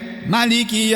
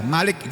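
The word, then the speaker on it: مالك: Kalau dibaca pendek Maliki yaumiddin, itu artinya raja. Malik itu artinya raja. Kalau dibaca panjang Maliki yaumiddin, dan ini bacaan yang masyhur, yang terkenal di seluruh dunia. Bacanya mimnya dibaca panjang.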